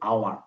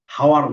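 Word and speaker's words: hour: ব্যতিক্রম 2টা তোমাকে বললাম, যে এই যে এইরকম একটা ব্যতিক্রম এখানে দেওয়া আছে, এইচ ও ইউ আর, এটার উচ্চারণটা কিন্তু আওয়ার, হাওয়ার না, আওয়ার, কিন্তু এখানে সামনে এইচ আছে।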